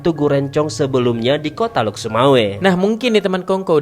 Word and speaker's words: Lhokseumawe: Menariknya lagi nih teman Kongko, nama Lok Sumawe juga terdapat dalam Pengkeh di masa Sultan Jauharul